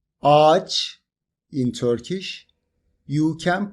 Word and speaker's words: ağaç: For example, if you want to say "ağaç" (tree) in Turkish, you can pronounce it like this: AAÇ If you want to say "iğne" (needle), you can say "iine".